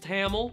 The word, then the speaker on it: Tamil: was the highest grossing Tamil language film of 2014 excuse me I'm pretty sure it's pronounced tamel so why are we